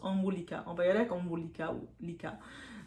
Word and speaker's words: Anwulika: c'est va c'est comme ça que je le prononce omulika on va yer avec omicaa ou likca donc